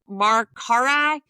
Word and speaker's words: Mercari: The other one, I think it's pronounced Mercari, Mercari, Okay.